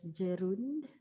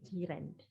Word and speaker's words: gerund: that we call zerand i've heard people pronounce this as gerund okay but uh or geron but it is actually girand like your neighbor in malay language jiren so